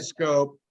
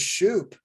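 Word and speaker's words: Schoop: up late 2010 and we had his name wrong for a few days we thought his name was shoop you know but but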